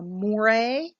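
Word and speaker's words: mores: A moray is how that's pronounced.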